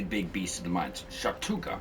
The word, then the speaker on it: Shactuka: Shhatuka, I think is how you say his name.